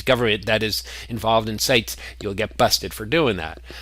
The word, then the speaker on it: CITES: I pronounce that CITES, not CITES. I don't know how you're supposed to pronounce it.